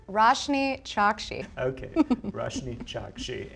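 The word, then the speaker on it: Roshani Chokshi: you pronounce your name it's pronounced pronounced it's pronounced roshni shocked she okay rush me Chuck she yes you go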